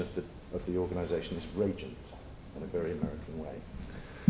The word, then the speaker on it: Rajant: Anybody from a UK-centric background pronounces the name Rajant because it has the associations with the Raj, the Indian connection.